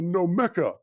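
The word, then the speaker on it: gnomecha: been trying to build a nomeka you know with the silent g to get myself out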